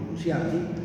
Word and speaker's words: Nuntiandi: Evangelii, en latín, Evangelii Nuntiandi, o Nunciandi, según se pronuncie, que generalmente los títulos de los documentos son como comienza el documento, en castellano o en latino, que sea.